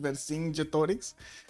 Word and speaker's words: Vercingetorix: Oh, that's how you pronounce it. Vercingetorix.